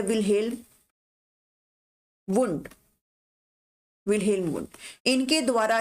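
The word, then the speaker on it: Wilhelm: ठीक है, विलियम wound नहीं होता, विल्हेल्म वुंड है।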